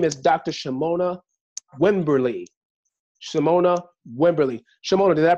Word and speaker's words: Shamonia Wimberly: Shamonia Wimberly. Shamonia, did I pronounce that correctly?